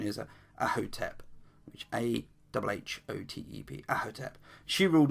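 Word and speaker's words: Ahhotep: Now, the lady in question is, pronunciation is Ahotep, which Ahotep.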